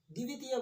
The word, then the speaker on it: द्वितीय: द्वितीय बोलते हैं हम इसको, द्वितीय बोलते हैं, दी नहीं, द्वितीय, ई के ऊपर बल देना है, द्वितीय।